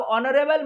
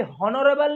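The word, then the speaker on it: honour: उसके बाद फिर है, या होनर नहीं बोलेंगे, एच को साइलेंट करके बोलना है, तो क्या होगा, ऑनर, क्या होगा, ऑनर, है ना।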